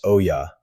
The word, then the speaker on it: olla: It's called an Olla, O-L-L-A, pronounced Oya.